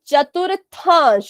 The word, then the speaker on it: चतुर्थांश: ठीक है, आप सभी ने पहला दूसरा तो ठीक कहा, लेकिन जो आपने मेन शब्द कहा वो थोड़ा सा गलत कहा। उसको कहते हैं चतुर्थांश।